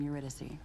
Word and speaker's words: Eurydice: Yeah, I would not have pronounced that as whatever she just said. I would have said Eurydice.